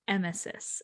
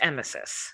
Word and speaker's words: emesis: It is pronounced emesis. I just consulted Google. Thank you, Google. It is emesis.